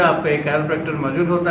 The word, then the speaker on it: Chiropractor: बहुत से लोग वाकिफ नहीं, इवन के लोग इसको सही प्रोनाउंस भी नहीं करते। द वर्ड इज कैरोप्रैक्टर, और जो इलाज है उसको कहते हैं कैरोप्रैक्टिक थेरेपी, ठीक है।